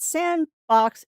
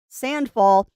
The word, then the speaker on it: Sandfall: It is not Sandbox, it is Sandfall.